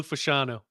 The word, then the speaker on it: Fashanu: How do you pronounce it? Olu Fashanu. Right.